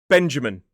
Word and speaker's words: Benjamin: Name number 4 is a 3-syllable word. Benjamin. 3 syllables, stress on the first.